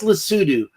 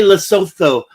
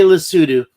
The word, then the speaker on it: Lesotho: Lesotho, it's pronounced Lesotho. We say Lesotho, but if you go there, you better say Lesotho.